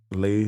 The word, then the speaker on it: Leigh: to each other but i lay dog l-e-i-g-h dot dog and then i got legitimate